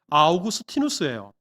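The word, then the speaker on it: Augustinus: 대단히 오래된 사람이기 때문에 사진이 없는 것은 당연할 테고 이 어거스틴이라는 이름이 영어식 발음이고요. 당시에 라틴식 발음으로 하면 아우구스티누스예요.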